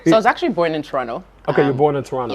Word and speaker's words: Toronto: he was like bro you cannot say toronto the second tea is silent yeah yeah yeah yeah toronto yeah all right yeah